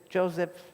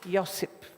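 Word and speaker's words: Josip: Herziggoina and this is Mr. Joseph or Yosip uh to pronounce it the our way, the Vulcan way.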